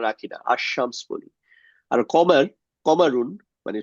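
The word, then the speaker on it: الشمس: আমরা এটাকে কি করি আল এর উচ্চারণটা লামের উচ্চারণটা রাখি এটা আশশামস বলি।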